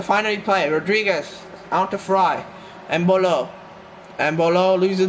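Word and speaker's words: Frei: game here to play I think FY is the right pronunciation I'm not sure i' far as I've heard Fabian fry should be the pronunciation Rodriguez is going to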